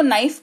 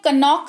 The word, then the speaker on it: know: ठीक है, फिर देखो KNOCK, इसको नॉक पढ़ते हैं, कनॉक नहीं पढ़ते हैं। क्या पढ़ते हैं? नॉक पढ़ते हैं। KNOW, इसको नो पढ़ते हैं, कनो नहीं पढ़ते हैं।